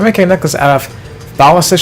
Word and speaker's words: Thalassa: I'm making a necklace out of Thalassa shells. I always mispronounced it as Tahasala shells when I was younger.